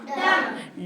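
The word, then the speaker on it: dumb: बनेगा डम ठीक है डी यू एम बी क्या बनेगा डम डम इसमें भी हम बी नहीं बोलेंगे और इसका अर्थ होता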